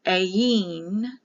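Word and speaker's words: ayin: letter for the i a yin a y i n or a i n a e remember the i is pronounced like an e it can be written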